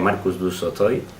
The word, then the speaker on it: Marcus du Sautoy: ver si sale bien, Marcus du Sautoy, ¿vale? No lo pronunciéis raro, que se pronuncia Marcus du Sautoy.